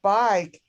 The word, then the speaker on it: bike: basically on the word bike the silent e at the end of the word makes the i long and that's the rule